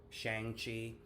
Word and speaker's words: Shang-Chi: And I know a lot of people are going to mispronounce it. Shang-Chi.